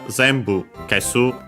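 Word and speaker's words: 全部: Uh the options here that we could use are Zambu. Uh Zambu means all Chinese compound. This one should be accent on the first M.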